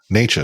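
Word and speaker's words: Nečas: Necas.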